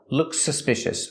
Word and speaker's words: looks suspicious: about the pronunciation Kevin if we link the words looks suspicious how do we pronounce them we only hear One S sound looks suspicious looks suspicious I look